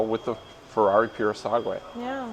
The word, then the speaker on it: Purosangue: That's how, with the Ferrari Purosangue. Yeah. I think that's how you pronounce it the correct way too.